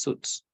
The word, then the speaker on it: suits: sweets no all right the pronunciation of this word is Suits suits suits okay because if you say sweets you refer to candies all right it suits